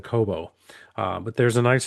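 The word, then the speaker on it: Cobo: I think I said Cabo cuz I was listening to Sammy Hagar earlier and I ended up saying Cabo instead of Coobo.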